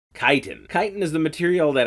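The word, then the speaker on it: chitin: Kasim Kasim a een - tine chit nee tighten tighten tighten is the material that our Ahmed shells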